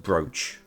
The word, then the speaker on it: brooch: It's a really stupid word, but that word is actually pronounced brooch.